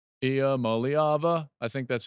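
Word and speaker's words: Iamaleava: Ia Maliava. You have to kind of sing it. Ia Maliava.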